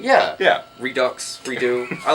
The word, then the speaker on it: Redux: Casey you do know the x is silent right redo oh it's like a redo redo yeah yeah Redux redo I like Redux